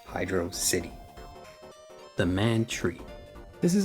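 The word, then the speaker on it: Hydrocity: However, the entire thing was finally fully put to bed when Yuji Naka himself said, "It's meant to be pronounced hydro city."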